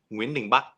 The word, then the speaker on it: Nguyễn Đình Bắc: Ding Bak Nguyen. Ding Bak Nguyen. Nguyễn Đình Bắc. It's Đình Bắc Nguyễn. Oh, okay. So you read it backwards.